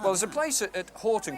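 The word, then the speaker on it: Hoghton: Hogton. Now, that's Horton. There's a Horton in Bolton with a U, but that's without a U, and it is actually Horton.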